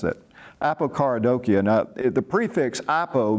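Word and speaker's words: apokaradokia: a pokhara dokey oh I'm sorry it should pronounce that a Picardo Kia now if the prefix hypo means away from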